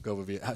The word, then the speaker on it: Govavia: Govavia. Spell it for listeners.